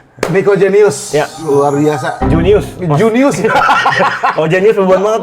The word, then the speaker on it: Junius: Junius. Junius. Oh, Genius beban banget tuh gua. Terdengar cerdas tuh gua. Jangan. Anjir, gua selama ini bacanya Jenius lu. Junius aja.